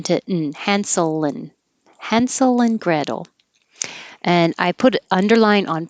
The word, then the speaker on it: Gretel: and of hansel and gretel we're pronouncing these names american english style so the t will change to a d and the a is